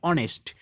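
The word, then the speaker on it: honest: দেখো এখানে কি আছে, হনেস্ট, যদি তোমরা উচ্চারণ করো হনেস্ট, কিন্তু অ্যাকচুয়ালি এর উচ্চারণ হচ্ছে অনেস্ট। এখানে এইচ এর উচ্চারণ কিন্তু হচ্ছে না।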